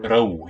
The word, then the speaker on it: rău: rău, yeah.